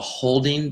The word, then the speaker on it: HODL: Yeah, and there's this thing in cryptocurrency called holding, but it's spelled HODL.